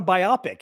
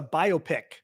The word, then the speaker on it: biopic: was um a film a biopic is not a biopic it's a biopic b o p i c I always thought it was a biopic and it's a biopic